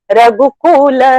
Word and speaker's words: रघुकुल: Just because वो tune में फिट होना चाहिए, नहीं, रघुकुल इज अ स्मॉल ऊ, तो इट हैज टू बी रघुकुल Rama, you can't make it cool Rama.